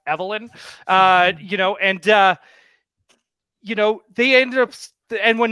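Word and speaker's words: Evil-Lyn: And so, yeah, it's pronounced Evelyn.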